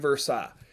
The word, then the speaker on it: Versailles: it's spelled the treaty of versailles but it's pronounced the treaty of versailles here's what's crazy about the treaty of versailles